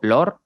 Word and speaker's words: Lohr: en instagram como lor mi apellido se escribe lohr está muy raro pero literalmente como vees